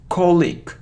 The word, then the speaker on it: colleague: it isn't click what isn't colleague its colleague colleague so the stress is on the first syllable and we have the sound e so alone e so colleague colleague it's incorrect so colleague colleague only this so I don't know why but we often hear click click no colleague colleague